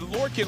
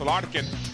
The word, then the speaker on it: Larkin: I saw him on the field before the game and I said Lurin. Lurin. He didn't respond. Apparently it's pronounced Larkin. So I should have said Larkin.